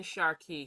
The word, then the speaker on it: Sharqi: Hi, Sisters in Sharqi. Sharqi is an Arabic word.